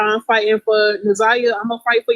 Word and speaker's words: Naziyah: But yeah, I know how to pronounce it now. Because it's like... And if you can't say Naziyah, just say.